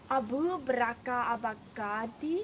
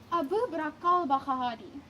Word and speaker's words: al-Baghdadi: Abu Bakr al-Baghdadi? No, you're pronouncing it wrong. Abu Bakr al-Baghdadi.